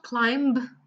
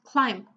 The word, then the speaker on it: climb: The same in climb. It's not climb, it's climb.